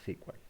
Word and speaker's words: SQL: secuenciales o no sql O no squal and sequal como quieran pronunciar los dos exponentes o